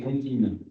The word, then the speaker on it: comptines: qui est dans les comptines. Les comptines, vous vous rappelez, comptines, ça s'écrit avec un P.